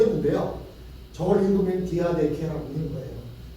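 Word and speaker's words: διαθήκη: 저걸 읽으면 디아데케라고 읽는 거예요.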